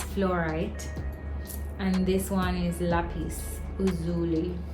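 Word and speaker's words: lapis lazuli: and this one is lapis Uli that's how it pronounced lapis any so yeah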